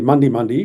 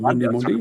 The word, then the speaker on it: Mundi Mundi: Well, it's actually Mundi Mundi rather than Mundi Mundi. It's That pronounced Mundi, Mundi Mundi. I'm from Mildura. We speak different.